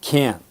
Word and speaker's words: can't: say can or can't he said can't and the T is not pronounced how will you know